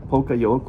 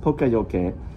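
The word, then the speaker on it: poka-yoke: because Toyota really works with this principle called Poka Yoke, which means mistake proofing. It's not pronounced Poka Yoke, which a lot of people do. It's pronounced Poka Yoke.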